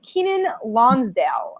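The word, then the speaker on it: Keiynan Lonsdale: We wanted to get it right, but it is Kenan Lonsdale. So that's how you pronounce his name.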